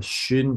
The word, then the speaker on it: schön: SCH가 쉬 발음이어서 schön aus.